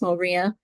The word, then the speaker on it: Moriah: It looks like Mariah, but pronounced Moriah.